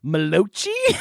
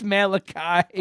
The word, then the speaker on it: Malachi: Malachi and krom a-n-k-r-o-m I believe you said like malochi but it's Malachi oh God that sounds